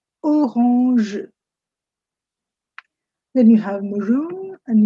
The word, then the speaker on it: orange: It's the same word, you pronounce it differently. Instead of saying orange, you say orange, orange.